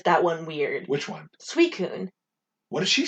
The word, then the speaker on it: Suicune: wrong and i fixed it because it was suicune and raiku and entei yeah yeah and yeah